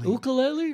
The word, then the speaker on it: ukulele: take souls once again but he is terrific ukulele you know the original pronunciation was uh : ukulele it means jumping fleeing flee yes yes anyway